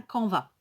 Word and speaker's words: canvas: alors un camp va ça s'écrit ca n b as donc en fonction des régions pourrait dire à caen basse moi je dis un combat je ne prononce pas le mot est donc un camp